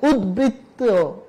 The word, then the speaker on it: উদ্বৃত্ত: যদি উদ শব্দের সাথে ব ফলা যুক্ত হয়, যেমন উদ্বিগ্ন, উদ্বেগ, উদ্বৃত্ত, এই যে উদ শব্দের সাথে ব ফলা যুক্ত হলে সে ব ফলা উচ্চারিত হবে।